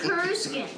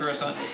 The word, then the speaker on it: Coruscant: I'm used to saying Kuruskin. All right. Not Coruscant. Coruscant.